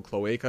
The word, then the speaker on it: cloaca: That's what an actual cloaca is. I think it's a plumbing term as well. Oh. But apparently that is how you pronounce it, and we were wrong.